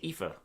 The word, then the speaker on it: Aoife: Aoife Valkyrie with the win. You said her name so weirdly. Aoife. It's Aoife.